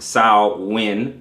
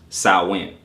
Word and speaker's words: Samhain: Samhain, pronounced Samhain or Samhain, it is spelled Samhain, but pronounced Samhain.